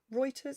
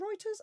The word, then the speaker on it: Reuters: some wine sources for objective news reporting include Reuters isn't it Reuters r-e-u-t-e-r-s Reuters oh that's pronounced it and NPR with my cold I